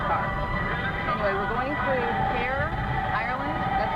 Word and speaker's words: Cahir: Anyway, we're going through Cahir, Ireland. That's how they pronounce it.